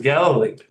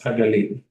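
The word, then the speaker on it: הגליל: This is the English pronunciation, Galilee. But the way we would pronounce it is Hagalil.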